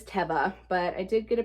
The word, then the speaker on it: Teva: I am officially conforming to Teva as the pronunciation for this brand because I think it was Mackenzie over at McThriftsy said that she saw a commercial where they pronounced it that way. So we stand corrected. It is not Teva, it is Teva.